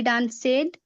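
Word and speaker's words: danced: आई डांसेड। डांस्ड उच्चारण इसका होता है डांस्ड, डांस्ड, डांस से ही डांस्ड ऐसे होता है।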